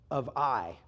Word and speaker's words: Ai: They come up to the city of Ai. It's spelled A-I.